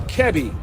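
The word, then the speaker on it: Kiari: husband uh chichner uh kevi so i've been pronouncing that it's not kiwi it's kevi and when uh her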